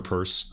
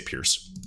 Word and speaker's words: Peirce: And of course, I always butcher her last name. I've been doing it for like 2 years, but I believe it's pronounced Peirce. I always say Pierce.